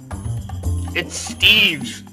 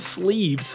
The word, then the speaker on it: Steve: there also why do you keep calling me sleeves isn't that your name steve i thought it was leader of sleeves have you been misreading my name this whole time not misreading just pronouncing wrong pronunciating wrong what are